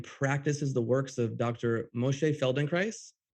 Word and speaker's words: Moshe Feldenkrais: Moshe Feldenkrais. I pronounced that right? You sure did, yeah.